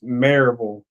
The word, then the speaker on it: Maryville: Mountain Bike Week just a small Maryville it's marille I'm sorry I'm I'm A Yank it's spelled marville I know youall pronounce not pronounced